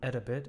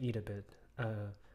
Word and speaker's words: Edabit: a bit I think I was saying eat a bit ed as an education but anyways um let's